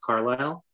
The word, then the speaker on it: Carlile: My name's pronounced Carlisle.